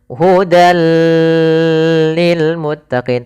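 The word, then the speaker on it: هُدًى لِّلْمُتَّقِينَ: Kemudian hudan lil muttaqin. Hud lil muttaqin.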